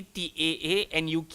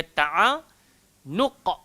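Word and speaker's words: تعانق: Kita takut ejaan nanti jadi T-A-A-N-U-K. Jadi ta'anuq, jadi hamzah, jadi huruf kaf pula. So dia bukan ta'anuk, dia ta'anuq.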